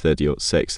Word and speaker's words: .30-06: the 30-minute six Springfield cartridge pronounced 30 ought 6 3006 or 7.62 times